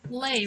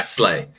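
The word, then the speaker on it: Slai: Is Goblin pronouncing the ally name correctly? Uh goblin needs to pull up that Slay, right? Slay. Slay. Yeah. Slay.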